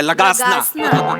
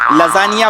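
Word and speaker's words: lasagna: हा खाऊया लगासना खाऊया लगाना तुमच्या बापाने केला होता लगासना लजानिया बोलता येत नाही स्पेलिंग वाचून लगाना बोलता तुम्ही तुमच्या बापाने केला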